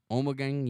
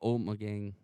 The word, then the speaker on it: Ommegang: It mixes rich maltness, a hint of citrus, notable fruitness from Ommegang yeast, and a warm, dry finish. This ale offers the unique flavors and aromas all Ommegang ales are known for, inspired by the deep